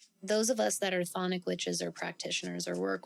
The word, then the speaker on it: chthonic: Now, as a chthonic witch, the word chthonic is spelled kind of funky. We'll put that on the screen. It starts with the letter C, actually.